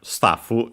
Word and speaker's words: スタッフ: Uh and yeah, luckily the accent is on the uh t as expected just like in English stuff.